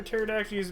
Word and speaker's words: pterodactyls: you can never hear pterodactyls bathroom because the p is silent i've heard that i've